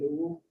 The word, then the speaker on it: Nuwu: Is that a southern Paiute pronunciation, Nuwu?